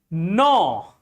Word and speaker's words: gnaw: When there is a G just before N or N which is just after G.